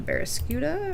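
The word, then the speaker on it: Barraskewda: okay we're going to switch to barascud or not Barca I keep saying Barca okay I know I'm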